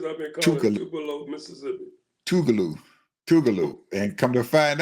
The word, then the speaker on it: Tougaloo: He was the the head speaker at the commencement for Tougaloo University right outside of Jackson to speak to the graduates. Is it Tubaloo or Tubalo? Tougaloo.